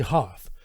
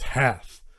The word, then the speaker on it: Hath: planned to go see Hoth because sort of the stars aligned. Well, let me go ahead and say I've been mispronouncing Hath wrong. It's not Hoth, it's Hath. I'll get to that in